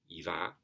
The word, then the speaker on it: iva: That last iva again is a short a, iva, but it's at the end of a line. At the end of a line, everything is pronounced long. So even a short va is a va.